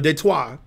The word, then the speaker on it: Detroit: person on Earth says Detroit who's not from Detroit unless they're French then they might say the correct pronunciation which nobody says nobody's gonna be correct you know de trois oh and the the